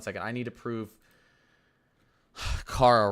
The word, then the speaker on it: Cara: It's pronounced Kara.